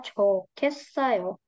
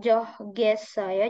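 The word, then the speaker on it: 좋겠어요: Jadi coa cota jadinya cokesayo. Cokesayo. Nah, bacanya bukan johgesayo jadi tapi cokesayo. Kenapa? Kalau here bacin here ketemu giok dibacanya jadi bukan coh ges saya tapi cokes saya gitu ya cokes saya cokes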